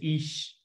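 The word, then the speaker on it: aois: when people do ages the word for age and irish is ish so you know just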